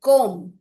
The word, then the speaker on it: comb: So before, when M कम्स before B, then B is silent. These are some examples like comb.